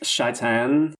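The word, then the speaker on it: Shai'tan: today Satan not today Satan nope it's actually pronounced shaan so I'm sorry not today Shan put that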